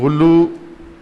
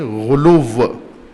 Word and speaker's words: غلو: میں کہتے ہیں غلو۔ غلو نہیں، غلو پنجابی تلفظ ہے، عربی تلفظ کریں غلو، سب کہیں غلو۔ غالی یعنی جو مخلوق